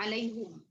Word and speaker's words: عليهم: Hamzah itu ingat ya, hamzah punya lafaz khusus ya pada alaihimnya. Jadi dibacanya alaihum.